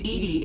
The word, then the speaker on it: EDI: why are you named eddie is the phonetic pronunciation of edi where are you my